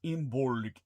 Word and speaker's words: Imbolc: It is imbul. It's pronounced Imbul.